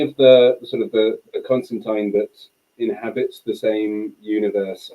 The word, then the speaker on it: Constantine: about this he's so it's Constantine and the way I remember that is it it rhymes with malign because he's a so Constantine rhymes with malign um